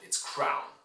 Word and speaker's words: crown: This is a diphthong in ow, so it's not kron, it's crown, okay?